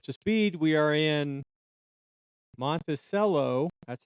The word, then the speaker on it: Monticello: So, just to catch you up to speed, we are in Monticello. That's how they pronounce it, Utah right now.